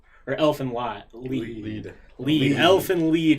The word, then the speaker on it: Elfen Lied: Elfen Lied, because it's a German one of my Roy buddies decided to tell me how it's German, and I've been saying it wrong for years.